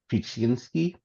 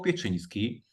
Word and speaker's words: Pieczyński: So let me save my friends from your pronunciation. And Corey was talking about Pieczyński and Jakub Wiśniewski.